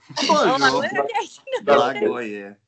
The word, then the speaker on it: Blagoje: Blagio? I don't know how to say it. Blagio? Blagio. Blagio. Blagoje. Blagoje.